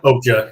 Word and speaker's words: Okja: Tim says, Ryan, we can get Okja. Is that how you say it? Okja? Okja, yeah.